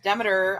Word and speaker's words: Demeter: uh demeter is jenny's asking who demeter is demeter i pronounce the demeter i think some people pronounce it demeter but